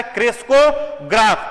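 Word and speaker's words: crescograph: देखो, क्रेस्कोग्राफ जो इंस्ट्रूमेंट है, क्रेस्कोग्राफ, ठीक है, पहले इसका प्रोनाउंसिएशन अच्छे से समझिए, क्या कह रहा है? क्रेस्कोग्राफ।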